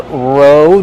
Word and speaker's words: row: You row the boat. Row. Use a long O like go and no.